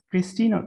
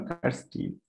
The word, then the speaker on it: Kirsten: pronounce your name sorry christina kirsten it's kirsten and you i am